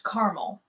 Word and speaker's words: caramel: that one I pronounce caramel it's just two syllables I know there's another a in there but it's caramel but then why ignore